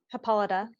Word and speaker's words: Hippolyta: Hippolyta.